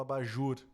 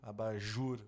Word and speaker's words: abajur: não tem por exemplo abajur abajur olha só a sílaba tônica sendo a última sem croissant a sílaba tônica é a última então tu percebe que